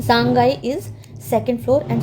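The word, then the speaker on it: 三階: First floor है, सांगकाई, अब सांगकाई नहीं है, गाई है, गा है इसका प्रोनाउंसिएशन, का नहीं है, क्योंकि जब इसके पीछे दो बिंदी लग जाती है तो प्रोनाउंसिएशन बदल जाता है। सांगाई is second floor and सो ऑन in India.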